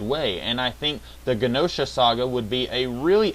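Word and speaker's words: Genosha: to see josha or ganosa I've always pronounced it ganosa I think everyone else pronounces it with a soft G but anyway I think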